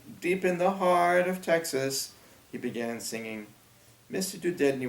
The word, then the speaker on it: Texas: He said, every kid from Texas knows the words. The way Robert pronounced Texas It rhymed with sixes.